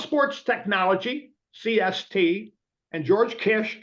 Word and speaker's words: Kiss: technology CST and George Kish k i SS spelled kiss but pronounced Kish he's from Hungary actually